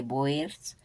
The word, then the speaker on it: boer: El nombre de Boers viene del nombre común neerlandés que se pronuncia boer, que significa granjero o simplemente pues un campesino.